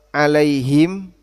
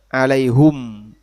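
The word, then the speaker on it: عليهم: Dalam salah satu cara baca orang Hijaz, bacanya alaihum, walaupun umumnya alaihim. Tapi ditoleransi dalam salah satu lughah orang Hijaz, dibaca alaihum, juga dibaca alaihu.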